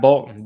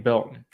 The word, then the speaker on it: Belton: Not Bolton, Dane Belton.